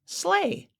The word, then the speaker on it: sleigh: guys help pull Santa's sleigh here is Santa's Slay slle s l e i g h the